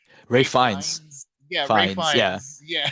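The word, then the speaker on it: Ralph Fiennes: I always forget how to pronounce his name. It's like Ray Ray Fiennes.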